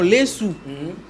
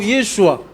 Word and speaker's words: Yeshua: kokene na ba grec, ba on va se prononcer en lesu. OK na ba hébreu, ba on va prononcer en Yeshua. C'est-à-dire que ce temps qu'on y a en français, biso en français to prononcer en Jésus. Parce que même na biso na Congo awa. So OK na Kiswahili to na Lingala. Ce n'est pas Jésus. Et ça Yesu.